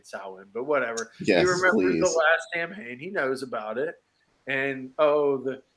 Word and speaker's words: Samhain: remembers the last samhain not pronounced samhain salwin but whatever and oh